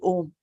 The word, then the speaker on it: Om: When you open your mouth, ah comes out, and when you purse your lips, it is oo, and when you close your mouth, it is m.